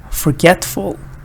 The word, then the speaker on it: forgetful: In these words, all of them, the stress is on get. So I'm going to go ahead and read them for you. Forget, forget, forgetful, forgetful, forgetfulness, forgetfulness, forgettable, forgettable, unforgettable, unforgettable.